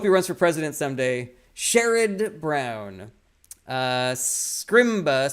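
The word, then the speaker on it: Sherrod: last call for questions Emily Kathleen says it's pronounced sherid it's shered not sherid all right well I like him so I'll say his name correctly I hope he runs for president someday shered Brown uh scrimba says would you be up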